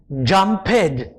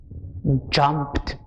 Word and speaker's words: jumped: Jumped. Jumped. It sounds almost as if there is a T in the word.